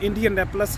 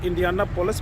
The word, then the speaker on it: Indianapolis: इसका जो कैपिटल है वो इंडियानापोलिस है। इंडियानापोलिस को कुछ लोग इंडियानापोलिस भी कहते हैं, लेकिन एक्चुअल जो वर्ड जहाँ पे लोग इसको प्रोनाउंसिएट करते हैं दैट इज़ इंडियानापोलिस। लेकिन इंडियानापोलिस भी ठीक है, समझ आनी चाहिए क्या चीज़ है।